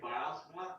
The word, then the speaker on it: Bylsma: You can say Bylsma, and as long as you keep the S and not a Z, like if we're going to be nitpicky, that's how they say it in the old country.